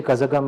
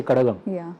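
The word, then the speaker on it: Kazhagam: I don't say Kazagam, I say Kadagam. Right? I said Cholas. Sorry. But for the Marathi viewers among you, it's like the Marathi D, that's what even the Tamil D is similar.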